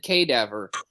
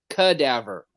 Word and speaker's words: cadaver: did it wrong again you said cadaver it's cadaver you know like a human cadaver I'm sorry the way it's spelled it's it looks like K never my my apologies